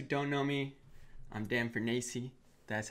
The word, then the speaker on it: Fornace: For all you guys who don't know me, I'm Dan Fornace.